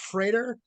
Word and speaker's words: Frater: The last name is pronounced Freighter.